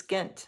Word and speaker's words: Gent: Now, it's spelled G N T, but it's Gent, right?